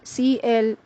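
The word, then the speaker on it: cliché: enunciate some more words having the CH digraphs that sound as sh or show for example the word cliche c-l-i-c-h-e pronounced as cliche which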